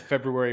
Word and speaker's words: February: I have two kids febrary you don't get to pronounce it until you get it right no I have two kids with February birthdays and I say it correctly Mike saying that reminded